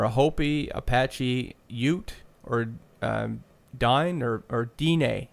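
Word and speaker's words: Diné: Hopi, Apache, Ute, or Dine, or Dine, he says the way it's pronounced, Danae.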